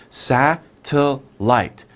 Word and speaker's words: satellite: difficult to pronounce right how many sounds sa till light satellite satellite okay so